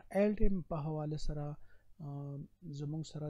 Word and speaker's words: Aldhelm: pronunciation check kay no Aldhelm worth da L pa ki silent hum sa khalak wai